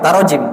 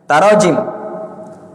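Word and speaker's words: تراجم: mana tarjemah e taroajim ya tarajim bukan tarjamah ya bacanya tarajim tarjamatun tarajim Ya dia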